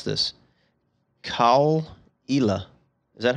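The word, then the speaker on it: Caol Ila: that do you think i'm looking up the pronunciation right yeah so it's a 12 year is islay it's cole cole cole ela age 12 years elay single malt scotch whiskey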